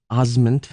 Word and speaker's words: Osment: Haley Joel Osment. Yes. As everyone tends to mispronounce.